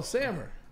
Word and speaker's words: Samer: It's Sammer, like hammer, but with an S. Oh, Sammer.